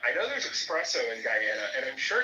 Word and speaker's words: Guyana: like, "Yeah, you know, because my family's from Guyana." And she would literally be like, "It's pronounced Gana."